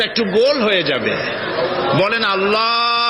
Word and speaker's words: আল্লাহ: হয় না কেউ বলে না আল্লাহ আল্লাহ পাকের উচ্চারণটা হচ্ছে আল্লাহ পাকের নাম হচ্ছে আল্লাহ মুখটা একটু গোল হয়ে যাবে বলেন আল্লাহ আল্লাহ পৃথিবীতে বিভিন্ন জাতি তার স্রষ্টাকে তারা